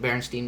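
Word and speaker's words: Berenstain: Berenstein Bears?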